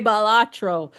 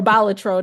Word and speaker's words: Balatro: to you should play balatro or balatro depending on you know how you decide to pronounce it yeah it's it's uh